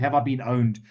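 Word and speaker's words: Have I Been Pwned: It's called Have I Been Owned, but it's spelled Have I Been Pawned.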